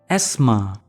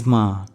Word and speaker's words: asthma: Asma has two syllables in British English we pronounce it as esma esma esma and in American English we pronounce it as as Asma Asma Asma asthma is a health condition